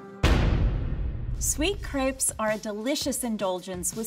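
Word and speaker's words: crêpe: or roll without tearing now there's a lot of dispute on actually how you say crepe i myself say crepe you may have heard the word pronounced as crepe but if we were in france we would say crepe a la francais either way they are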